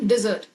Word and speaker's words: dessert: The correct pronunciation would be dessert.